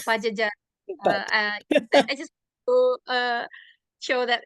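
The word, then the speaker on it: Padjadjaran: And you pronounce it right. Pajajaran, it's Pajajaran.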